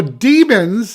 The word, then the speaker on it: daemons: Now, demons, and that's spelled Daemons, are one of the coolest parts of Philip Pullman's novels.